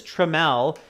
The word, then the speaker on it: Trammell: Okay, Lily, VG, and Arda, and many of you are saying his name is Trammell, spelt with T-R-A-M-M-E-L-L.